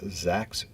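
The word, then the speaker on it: Zaks: local rabbi rabbi huva Zak's rhymes with wax she told me came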